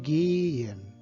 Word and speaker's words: gehen: Então, gehen. Então, note que o H ele não é pronunciado, ele simplesmente vai indicar que o E é longo.